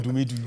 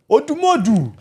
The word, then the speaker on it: Odumodu: He's not Odumedu. You're even Igbo, and you're pronouncing it the wrong Guys way.